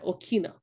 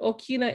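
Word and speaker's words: ʻokina: have our indigenous centers and okina now the okinawa is a glottal stop and that makes that little in your in your throat right and so okina are very important to pronounce um what's kind of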